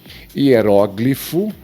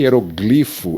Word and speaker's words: hieróglifo: Hieróglifo, mas aqui o dicionário nos traz que hieroglifo é um variante, então nós não podemos considerar a pronúncia como errada, mas uma variante. O hieróglifo ou hieroglifo. Eu procurei e realmente o dicionário aceita uma variante.